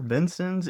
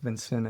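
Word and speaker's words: Vincennes: Benson's Indiana. So pronunciation there and a lot of people say like Vincent because it's spelled funny.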